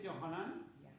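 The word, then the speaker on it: Yohanan: es Juan hebo yahan se escribe yahan se pronuncia johanan pero es Juan libro de Juan o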